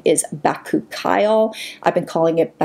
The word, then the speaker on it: bakuchiol: them together I was told that the proper pronunciation is back ookyle I've been calling it coochie all all this time so this is a really